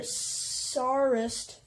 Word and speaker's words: Tsarist: Russian despotism either either Tsarist spelled T sa a RI st I'm assuming the T is silent or Stalinist are clearly